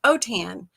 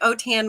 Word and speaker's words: Autin: French that's why Au t i n is pronounced otan like otan my hide you did not know that my